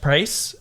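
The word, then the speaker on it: Pryce: It did save my butt against Price, but that was the only time that it was useful. Price? Yeah, Price, The ice? the gym leader. Price the ice. Oh my god, it rhymes.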